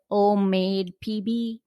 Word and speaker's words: OmMade: That way they'll know where to find OmMadepb. Yeah, it's all of my my website, all of my social handles. They're all OmMadepb. And I tell people OmMade rhymes with homemade.